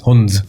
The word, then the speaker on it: Hunz: Well, Hunz maybe, but I'm from Manchester, so it's Hunz. Hunz. All right. Hunz. Mancunian way of saying it.